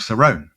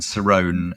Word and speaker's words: Cerrone: a composer called Mark Cerrone. And Cerrone is Cerrone is spelled C E R O N E.